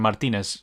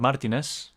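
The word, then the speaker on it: Martínez: poor uh dylan pronunciation martinez yeah spanish yeah martinez martinez martinez martinez is just the way the english say it but yeah that's how it is but yeah i'll be honest speaking of martinez i want to actually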